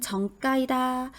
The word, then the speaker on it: 정가: 자 다음은 표준 발음법인데요 에누리가 없는 정가이다 정가 이렇게 된 소리 나오는게 맞을까요 네 맞습니다 이렇게 된 소리가 나는 부분들은요 대부분 가격과 관련된 부분일 때 까라고 된 소리가나요 예를 들어 고가의 시가가